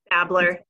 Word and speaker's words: Babler: And I believe Elisa Babler, is that how to pronounce that, is on the line. I see you smiling. Good morning. Welcome, Elisa. It's what? Babler.